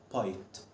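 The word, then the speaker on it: bite: حرف الاي في كلمه الكلمه التانيه بتاعتنا حرف الاي مش هتنطق خالص تعالوا نشوف كده الكلمه دي هتنطق ازاي بايت بايت واحده واحده باي هنا حرف الاي اتنطق اي يبقى انا دلوقتي حرف لو جه في نهايه الكلمه هو حرف ساكن سايلنت مش بيتنطق مالوش نطق بس فايدته انه بيخلي الحرف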